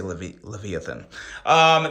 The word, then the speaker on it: Leviathan: There's probably 7 different ways to pronounce that, but on this channel, we say Leviathan.